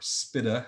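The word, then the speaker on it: SBITA: 96 on subscription-based information technology arrangements, or SPITA, as that acronym gets pronounced sometimes.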